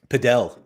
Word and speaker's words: padel: uh referencing here yeah it's just paddle it's not yeah it's paddle it's padle sport padel oh I'm sorry sorry CER